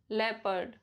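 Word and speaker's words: leopard: ओ is silent in the combination of ई ओ एंड ओ यू. जैसे people, लेपर्ड, rough, tough, enough, trouble, double.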